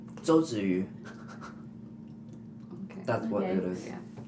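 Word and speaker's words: 周子瑜: You should know how to pronounce her name. Zhou Ziyu.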